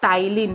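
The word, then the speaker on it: Ptyalin: बेटा उसको हम लोग टाइलिन, पी साइलेंट है, टाइलिन भी हम लोग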